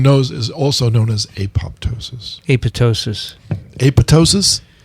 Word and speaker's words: apoptosis: no no look you look at the greek words p-t-e-r do you call do you pronounce them pater no they're optimistic right so it's apoptosis not apoptosis i've heard it referred